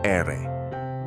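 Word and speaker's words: erre: R is pronounce ere.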